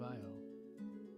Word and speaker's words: Io: Well, the ionic columns, of course, or an ancient pronunciation of Io is Yo.